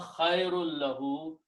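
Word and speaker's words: خَيْرٌ لَهُ: So that, and when you pronounce this noon sound, khairun, will change into the sound of lam. So this will be pronounced instead of noon, this will be also pronounced as a lam. So you have two lams, so you can put a shadda on these two together and do not pronounce noon.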